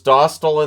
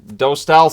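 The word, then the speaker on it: Dostal: of us so as Hudson versus dostyle in this one or dostyle um doe style sounds weird but I guess that's the right pronunciation uh early power play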